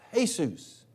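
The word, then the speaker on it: Jesús: But in Spanish, it's pronounced Jesus.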